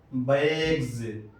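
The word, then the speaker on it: bags: میں آ رہا ہے اس کا تلفظ سین سے نہیں کریں گے بلکہ زا سے کریں گے، بیگز۔ اسی طرح ایگز، ایگز،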